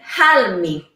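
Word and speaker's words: ἅλμη: they pronounced has uh it was pronounced with an initial breathy sound making foreign is a cheese that is it's kept in brine brine is almi army was actually pronounced as hal me so that was a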